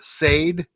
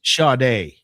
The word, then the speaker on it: Sade: All right, we got uh Sade. No. Shade. What? It's pronounced shade.